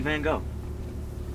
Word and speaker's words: Van Gogh: Alright, the next one is an artist of Dutch origin whose name rhymes with fried dough. Wait, hold on. I got this. It's isn't it Miro? Ooh, nah, good guess, but it's actually Van Gogh.